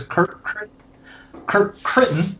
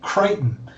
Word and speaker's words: Kirk Critton: This is Kirk Critton. Rhymes with Britain. I'm going to remember that because I'll be honest and apologize. I've been saying it Crichton.